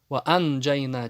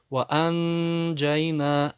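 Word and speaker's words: وَأَنْجَيْنَا: Ваанджайна. Почему ан держим? Потому что нун стоит пустая. Многие ошибку допускают и читают это ясно, как будто изгар. Сукун туда ставят. Здесь нету сукуна. Ваанджайна читают. Это ошибка. Ваанджайна должен утаить.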